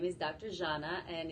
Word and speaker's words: Zhana: And I will be interviewing so I want to make sure I'm pronouncing this correct. So you prefer Dr. Zhana? Zhana.